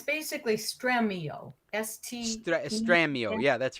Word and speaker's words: Stremio: so it's it's basically stremio st estramio yeah that's right if if you're pronouncing it in spanish it would be straight mio but it's a great